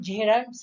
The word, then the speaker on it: gerunds: जेरंट्स, correct pronunciation जेरंट्स है, जेरंट्स. Infinitives और participles.